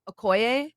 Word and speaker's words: Okoye: just like one we we also have um Okoye right yeah is that I say her name